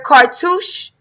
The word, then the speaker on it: cartouche: And she got hers with her husband and her cartouche.